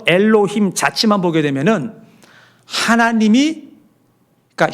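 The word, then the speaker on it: אֱלֹהִים: 자, 여러분 저 글씨를 보시게 되면 오른쪽에서 왼쪽으로 이렇게 읽는 건데 그걸 엘로힘 우리가 이렇게 읽어요.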